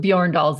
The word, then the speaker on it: Bjorndal: off the bat yeah I've known a few Yorn dolls in my day so that was not a